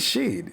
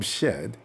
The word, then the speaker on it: Shead: I think it is Shead. It makes sense. It doesn't make sense to call him Shed. So it's got to be Shead.